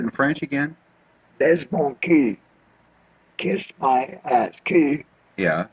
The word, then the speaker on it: cul: Baise mon cul. Kiss my ass. Cul. Yeah. Is ass. How do you spell that? C-U-L. C-U-L. Oh, like cul de sac.